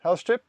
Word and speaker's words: Helstrip: That is how your name is pronounced, Helstrip, right?